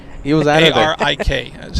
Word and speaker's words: Arik: A-R-I-K. That's how he spells his name. A-R-I-k. So how do I pronounce it?